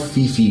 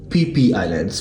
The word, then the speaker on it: Phi Phi: How do you pronounce that? It's not Fifi, guys. It's PP. PP Islands.